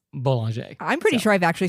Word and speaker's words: Bollinger: And it's not Bollinger, it's Boulanger.